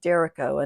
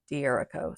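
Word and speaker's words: D'Errico: I guess it's pronounced Derico and not Dierico. So Derico. And I did this page here.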